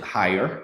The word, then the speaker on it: Heier: today so guys I believe you pronounced it higher that's correct that's your last name